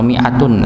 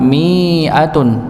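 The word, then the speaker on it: مِائَة: enggak ada tandanya dipanjangkan miatun. miatun padahal pendek bacanya. Kalau kita melihat mushaf apa mushaf Madinah biasanya kita temukan ada lingkaran kecil di sini yang menunjukkan dia dibaca satu harakat. Miatun. Miatun.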